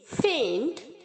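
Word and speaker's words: feign: उसे कर सकते हैं फैल फैल यहां पर जो आई और जी है बच्चों वो साइलेंट है तो आप इसे सिर्फ एफ आई एन की तरह प्रनंसे करेंगे फैल फैल बहाना करना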